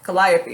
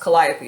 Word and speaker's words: Calliope: gonna take Calliope II karaoke Calliope II Oh Calliope is totally how this pronounced Calliope excuse me and I'm gonna put that in